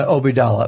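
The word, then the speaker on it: Obeidallah: How do you pronounce his last name? Obidallah.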